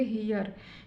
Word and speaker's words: here: इसी प्रकार next rule क्या कहता है, नेक्स्ट रूल कहता है कि जब किसी वर्ड में ई के बाद आर ई हो तो ई का उच्चारण ई होता है। जैसे HERE, यहाँ पर भी ई के बाद क्या है, आर ई है तो इसका उच्चारण क्या होगा, ई होगा। तो इसको हम क्या पढ़ेंगे, HERE को क्या पढ़ेंगे, हियर।